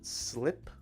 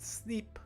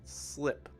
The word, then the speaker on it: slip: It's not E, it's I, right? Slip. Not sleep, but slip. That's the first thing we're going to be practicing today.